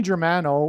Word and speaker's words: Germano: Okay, let's, Tony Germano rhymes with Tony Soprano, who is symbolic of the Antichrist, the leader of the mafia in that show, The Sopranos.